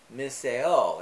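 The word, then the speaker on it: μισέω: that greek word is strong's number 3404 uh pronounced as misseo and it can mean to detest or it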